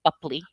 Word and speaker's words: Boepple: It was Johnny Depp, you know, razzing B Bupley, before my scene, and that's how you pronounce it, by the way, Bupley.